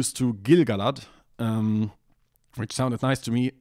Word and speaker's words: Gil-galad: It has to be Barad-dûr, and that means we analyze each part separately, and that means it also has to be Gil-galad, and that's what the tool does, although I think you're free to disagree if you want to.